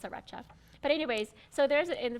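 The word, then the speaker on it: Sriracha: hot sauce or sarach sarach saracha S it's pronounce it's saracha but anyways so there's in front of this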